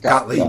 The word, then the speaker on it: Gottlieb: Carl Gottlieb. Gottlieb. Gottlieb. Yeah, that's how you pronounce it.